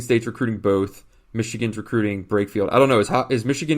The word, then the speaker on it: Brakefield: But also Jermaine Brakefield. Did I pronounce that right? Sounds good. Brakefield, yeah.